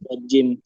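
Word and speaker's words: ج: Tidak boleh ada angin. Kemudian Jim itu pakai lidah yang di tengah. Iya. Ya, Ustaz. Bertemu apa? Bertemu ee bertemu ee langit-langit. Langit-langit ya. Heeh. Tengah lidah ketemu sama langit-langit tidak ada udara.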